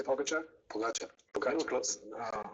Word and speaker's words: Pogačar: Pogačar.